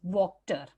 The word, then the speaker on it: Wachter: बच्चों, spelling WACHTER है, it's the name of the blacksmith, but The pronunciation is Wachter.